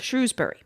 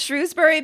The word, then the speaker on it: Shrewsbury: Aberystwyth, and also said, "For Shrewsbury, some people pronounce it Shrews, some people use Shrows. I can never remember which one the locals use. Whichever way you pick, you'll probably annoy someone."